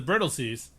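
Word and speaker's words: Brightlingsea: so so then we flash forward to the brittle seas and they say well the last time we solved our problems it's spelled bright sea but it's pronounced brittle sea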